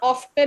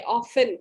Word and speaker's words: often: Yes Ananya, ऑफ्टन नहीं होता, इसमें टी साइलेंट होता है, ऑफन।